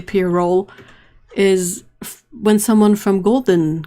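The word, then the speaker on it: pyrrole: i heard that that you are supposed to see pier roll is when someone from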